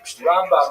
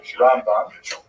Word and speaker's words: Rambam: Rambam is pronounced with the emphasis on the first syllable. Rambam and Ramban is pronounced with the emphasis on the second syllable.